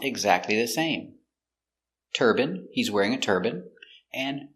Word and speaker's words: turbine: In America, it's more common to hear turban, but in England, they say turbine. Some people in America say turbine, but it's more common in America to say turban.